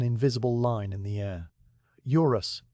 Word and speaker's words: Eurus: "Eurus," he says, and his voice drops slightly on the second syllable as if the word itself is descending from a height.